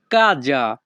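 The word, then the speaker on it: casa: বাংলা অর্থ পা বাড়ি কাজা ইতালিয়ান ভাষাতে বাড়িকে বলা হয় কাজা এখানে এস এর উচ্চ হবে যা ইতালিয়ান ভাষা কাজা বাংলা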